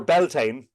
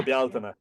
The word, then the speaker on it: Bealtaine: It's not pronounced Samhain, but or Beltane for Yeah. Bealtaine.